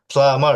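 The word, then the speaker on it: plumber: পরে বুঝায় বলব ইনশাল্লাহ প্লামার এই বিটা হবে না আছে না পি এল ইউ এমবি এ আর আছে না হ্যাঁ হ্যাঁ বিটা বিটা সাইলেন্ট থাকবে বুঝছেন বিটা সাইলেন্ট থাকবে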